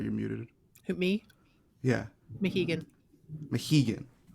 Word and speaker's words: Mohegan: The next one looks like was it Mihogan? What is it? The new... Sorry, you're muted. Who, me? Yeah. Mohegan. Mohegan. I knew I was getting that first syllable wrong.